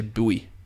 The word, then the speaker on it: buoy: numbers aren't there to boy their value up. And for you Americans, when I say boy, that's how that's the way that we pronounce the word that you say buoy.